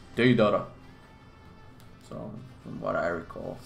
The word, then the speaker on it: Deidara: People pronounce Deidara differently, but in the anime it's like Deidara, Deidara, right? It's like Deidara.